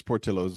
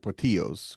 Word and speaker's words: Portillo's: I assume it's Portillo's and not Portillos because it's not Spanish. Yeah, It's yeah, Italian, right? So Portillo's.